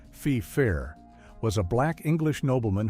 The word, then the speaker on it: Feifer: Case in point, a show from 1998 called The Secret Diary of Desmond Feifer, the title character, whose last name is pronounced FIFA, was a black English